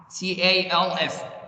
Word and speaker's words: calf: say it's called calf, C-A-L-F. Don't pronounce the L, it's calf.